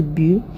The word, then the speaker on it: BUT: So I decided to go to Bu by Arno. Bu is just spelled like Bert, B-U-T.